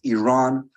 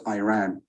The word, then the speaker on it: Iran: Our country is named Iran, not Iran.